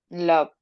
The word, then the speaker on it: loved: love, Loved. love. Loved. Okay, so it's like a D, Uh-huh. suena como D, la última pronunciación.